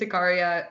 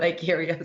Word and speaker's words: iCaria: No, so you pronounced it correctly. It's iCaria CBD oil. So as I said, I think I'm the only one who pronounces it that way. It's a lot of people call it iCaria.